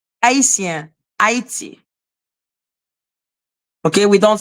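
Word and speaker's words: Haïti: They say Haiti. Haiti, not 80.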